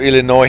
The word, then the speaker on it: Illinois: So Illinois has no S, but Des Plaines has them.